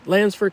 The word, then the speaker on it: Landsford: Lansford Canal State Park.